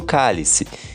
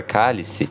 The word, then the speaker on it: cálice: Chico percebeu que a palavra cálice, no caso o objeto, tem a mesma pronúncia do verbo calar conjugado no imperativo.